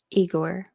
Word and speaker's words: Igor: Is this one Igor or is it supposed to be Wygor? Igor. I hear it too many